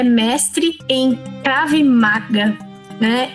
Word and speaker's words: Krav Maga: Essa topologia é Krav Maga, essa pronúncia certa, significa em hebraico combate suportado.